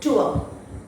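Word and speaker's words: tour: Last R is silent, এটাকে আমরা উচ্চারণ করব ট্যুর, ট্যুর।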